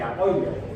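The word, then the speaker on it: Boyle: tipo era alem entonces la forma de pronunciar su apellido serí boil la ley de boil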